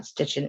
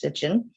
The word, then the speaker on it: Sitchin: I always want to put a T in there, but his last name was not Stitchin, it's Sitchin.